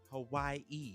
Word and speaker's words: Hawaii: happened so in Hawaii Hawaii you gotta say it like that because the locals out there when you get Hawaii